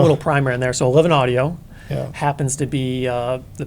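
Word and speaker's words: XI Audio: yeah that house seriously yeah we could pop a little primer in there so 11 audio happens to be uh the brainchild as it's spelled x i audio yeah yeah but it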